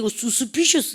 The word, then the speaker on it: suspicious: "su-spi-cious" 는 "u" 발음 이 아닙니다 . 너 도 알잖아 , 그렇지 ? 형용사 의 "sh" 발음 . "C" 발음 처럼 요 .